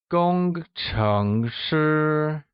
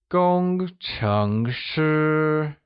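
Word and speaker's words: 工程师: the pronunciation of engineer Gong is pronounced using a high level tone like Gong Chung is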